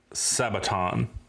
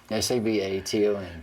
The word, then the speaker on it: Sabaton: So there's the band we're going to do today is called Sabaton. I think that's how you pronounce it. I'm pretty sure that's how you pronounce it. S-A-B-A-T-O-N. S-A-B-A-T-O-N. Yeah. Sabaton. Yeah.